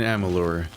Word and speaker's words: Amalur: Alright, so begins our adventure in Amalur. A thing I always have to remind myself to pronounce and spell with a U, because I always get it wrong.